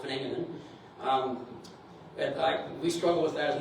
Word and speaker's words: Wageningen: It's actually spelled Wageningen, but it's pronounced Verenigde.